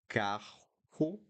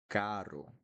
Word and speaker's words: caro: The exception, I'm repeating because it's important, is when we have the R in the middle of two vowels. Then this sound, instead of carro, I'm going to say it caro, caro.